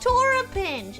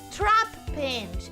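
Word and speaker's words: Trapinch: that you pronounce it it's not Torah pinch it's trap pinch I get it I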